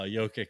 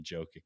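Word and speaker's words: Jokić: grown to love uh Yoki I I will always say his name wrong just forgive me for that I'm just so naturally say jokic but um you know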